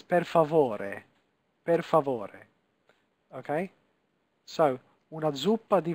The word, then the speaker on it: per favore: In Italian, every letter is pronounced, okay? So this is not per favor, it's per favore, okay?